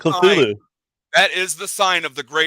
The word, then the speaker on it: Cthulhu: Next thing I know, I'm going to be worshiping Cthulhu. Cthulhu. I know it can be pronounced Cthulhu as well.